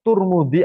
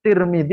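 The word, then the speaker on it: ترمذي: Itu sampai disebutkan Tarmidzi boleh, Tirmidzi boleh, ya, wa Turmudi itu juga boleh.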